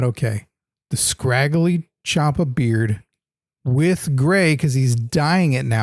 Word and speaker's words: Ciampa: Tommaso Ciampa rhymes with Tampa.